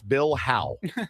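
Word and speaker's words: Bill Howe: So just again to clarify, it's Bill How Bill Plumbing Plumbing, not Bill Plow humming.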